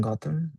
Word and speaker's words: Gautam: Gotham is pronounced like the city in Batman.